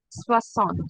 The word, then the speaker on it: soixante: Next we will see soixante. 60 is soixante. Soixante. Okay. 60 is how 60 how will you pronounce?